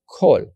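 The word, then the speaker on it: כל: It's going to have the pronunciation O, kol.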